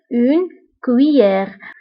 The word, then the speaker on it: cuillère: هنا نكتب 2 Z ولكن لا ننطقها، نقول une cuillère.